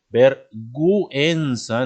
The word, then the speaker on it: vergüenza: poner por ejemplo vergüenza vergüenza entonces la u se pronuncia pero si no le pongo lado diría ver piensa entonces para que se